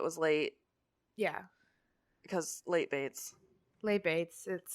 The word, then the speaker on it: Bates: Because late Bates. Late Bates, it's their thing. I mean, their last name literally rhymes with it, so lean into it, I guess.